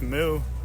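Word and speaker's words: MØ: Or I found out it's pronounced Moo recently.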